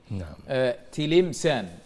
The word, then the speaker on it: تلمسان: تلمسان بكسر اللام تنطق هكذا، ويعرف بابن الرصاع لصنعة أحد أجداده، كان نجارا ويرصع المنابر.